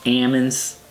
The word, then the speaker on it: almonds: you know i love almonds where i come from it's called ammons the l is silent you know what i'm